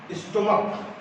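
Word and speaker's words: stomach: आगे, जिस नाउन के अंत में सी एच हो, कहने का मतलब कि उसका क वर्ण से उच्चारण किया जाए, उसका जो उसके जो ध्वनि निकले वह क निकले, उसमें भी एस जोड़ करके प्लूरल बनाते हैं।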